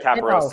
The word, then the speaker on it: Caporoso: Like Caporoso.